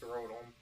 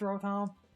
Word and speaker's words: Rotom: Also, it's pronounced Rotom. It's motor backwards. It's Rotom.